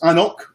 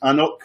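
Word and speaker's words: AnCnoc: And it's Annoch. It's pronounced Annoch, which is Gaelic for hill. It's in the Highlands. It's just outside inside Huntly, but it's Annoch is the brand.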